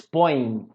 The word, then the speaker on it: põem: Repara que aqui, ó, ele põe, eles põem, a pronúncia é a mesma, não é? Mas eu coloco um M aqui para diferenciar o singular do plural, tudo bem? Uma outra coisa é que eu coloco tio, se vocês perceberem, põe, a gente termina a pronúncia pelo nariz, não é? Esse ditongo aqui, ele é anasalado.